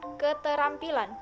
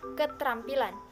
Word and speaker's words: keterampilan: tohnya yaitu yang pertama kata keterampilan diucapkan keterampilan bukan ketrampilan yang kedua kata Apotek